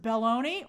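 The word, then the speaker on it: Belloni: they're behind a pay wall uh oh it's pronounced baloney I like it still sounds like balone okay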